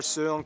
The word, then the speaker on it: Søren: Hans Christian Andersen, philosopher Søren Kierkegaard, or whether... Can you pronounce his name? That's actually how you pronounce his name. Wow. It's not Søren Kierkegaard. It's...